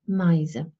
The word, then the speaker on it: Meise: There are various spelling possibilities, but pronunciation is I, Meise.